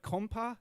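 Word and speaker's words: konpa: right i mean it was uh am i pronouncing this right compa is that yes definitely definitely good yeah um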